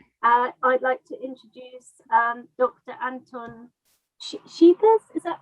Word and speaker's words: Scheepers: Anton Scheepers, is that right? Did I pronounce that it's actually like school, Scheepers with a K. Scheepers, Anton Scheepers.